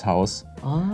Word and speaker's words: Haus: Yeah, that is all actually the same pronunciation and the spelling is different. So it's house, and in German it's Haus.